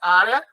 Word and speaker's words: área: Área é uma paroxítona terminada em ditongo crescente. Ela deve ser acentuada por isso.